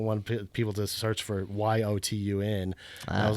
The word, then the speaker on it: Jotun: It's actually pronounced Jotun, but I don't want people to search for Yotun.